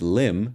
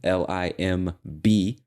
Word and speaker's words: limb: part and the word limb l i m b and the B is silent limb just means arm